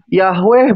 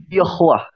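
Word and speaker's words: יהוה: Nah, dari situ kalau kita lihat dari nikud tanda baca Ibraninya itu, dibacanya bukan Yahweh bukan Yehova, bukan Yehua, tapi Yahwah dibacanya. Yahwah dibacanya itu. Bukan Yahweh ya, tapi E. Lebih ke E.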